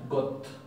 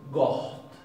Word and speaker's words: gott: Esto no se pronuncia got, se pronuncia goht, goht, goht. Fíjense que la G arranca dura, fuerte. La O no es O, sino es O, O. Y la doble T es HT, goht, goht.